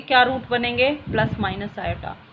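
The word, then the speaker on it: iota: क्या वर्ड है स्टूडेंट्स इसको कैसे प्रोनाउंस करेंगे आयो आईटी this is Greek word ये आई नहीं है स्टूडेंट्स ये क्या है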